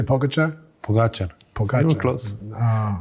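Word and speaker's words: Pogačar: Pogacher.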